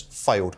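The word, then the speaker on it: Fylde: my nomination is counsel I think it's pronounced ironically enough failed failed failed counsel f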